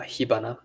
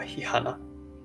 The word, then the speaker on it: 火花: And I guess similar thing happened to the Japanese language, hanabi or hibana, not hanahi or hihana.